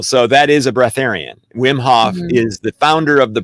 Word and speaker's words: Wim Hof: breatharians monica no have you heard of will wilhoff is it wilhoff i think i'm saying it right wim hof wim hof that's it you you've obviously heard